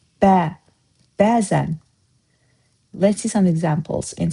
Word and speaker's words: bəzən: Do you pay attention how I say the word BÄZən? Usually in Azerbaijani, stress falls to the last syllable of the sentence, of the word, like görüşmək. See, you didn't hear stress in the beginning. But for BÄZən, it's different. It's on the first part.